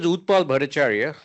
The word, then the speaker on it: Utpal Bhattacharya: My name is Up Paul Bhattacharya and that was very good pronunciation. And the reason Thai people can pronounce my name very well because it's all Sanskrit.